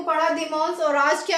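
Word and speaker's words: dimanche: होता है तो संडे को हम बोलते हैं दिम क्या बोलते हैं दिम इसको हम प्रोनाउंस इसकी देंगे D double E एम ए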